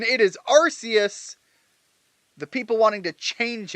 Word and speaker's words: Arceus: And I will not change its pronunciation, it is Arceus! The people wanting to change it just because of a movie that retconned true canon can bite me. It's Arceus.